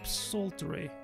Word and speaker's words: psaltery: Probably, you don't say the P, right? Psaltery.